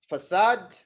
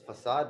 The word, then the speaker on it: facade: we have four um facade okay and and and just be sure that you pronounce it correctly it's facad not facad because facad that's a completely different problem all right and then